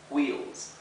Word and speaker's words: wheels: La W con la H, la W y la H, se pronuncia en inglés como si fuera una bocanada de aire o de viento, ¿verdad? Como si fuera un viento que pasa.